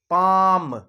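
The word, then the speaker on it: palm: अपने वल में कि पाम में अंदर स्पेलिंग तो पी ए एल एम की है लेकिन आवाज कौन सी आ रही है पालम नहीं हो रहा ये पालम नहीं बोलते इसको एल साइलेंट है और हमेशा ध्यान रखना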